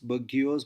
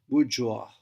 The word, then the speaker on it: bourgeois: Here, as you can see, the pronunciation I've mentioned in easy words, so you don't pronounce it like bourgeois, bourgeois. The proper pronunciation is bourgeois.